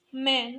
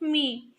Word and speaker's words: मैं: It's मैं, not me.